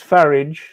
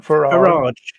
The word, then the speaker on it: Farage: It's farage, not farage. Farage, I think. No, you're supposed to say farage. Like you say garage, you don't say garage.